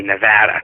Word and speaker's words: Nevada: And I keep forgetting, because I'm from Virginia, I call it Nevada, but you're supposed to say Nevada. It's a flat A.